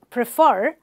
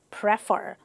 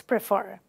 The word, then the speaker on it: prefer: our first language, we tend to make common pronunciation mistakes. For example, instead of saying prefer, a lot of people say prefer. I prefer ice cream. It's prefer. I prefer ice cream, not prefer.